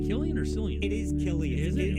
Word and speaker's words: Cillian: It is Cillian.